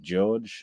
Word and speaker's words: Jorge: I believe it is pronounced George and spelt Jorge, but that's neither here nor there, really.